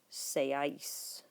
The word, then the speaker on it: seáis: Vosotros seáis. Accent on the A.